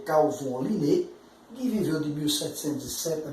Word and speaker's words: Carl von Linné: A pronúncia aqui é Carl von Linné, que viveu de 1707 a 1778, e ele, inclusive, gostava de assinar o seu nome, tá?